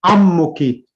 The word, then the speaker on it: أمك: Sorry, what's the correct pronunciation? Ammuki.